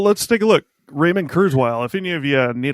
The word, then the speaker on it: Kurzweil: yep so well let's take a look Raymond kurile if any of you need to look him up his last name is k r z we i l it is pronounced kurile is this one of the guys who um